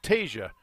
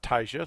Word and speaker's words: Tasia: I understand it's Tasia, not Tasia, like I was saying earlier.